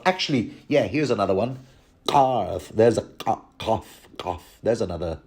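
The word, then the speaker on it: Qarth: yeah, here's another one, Karth, there's a Kaf, there's another Arabic letter, because Karth is, of course, spelled with a Q, which would be the Qaf.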